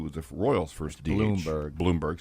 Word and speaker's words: Blomberg: Bloomberg, sorry. It's spelled like Blomberg. I know it is. Bloomberg.